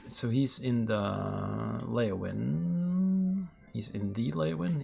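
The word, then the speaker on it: Leyawiin: All right, so he's in the Lewin. He's in the Lewin. He's just in laywin. That's the correct way to say that.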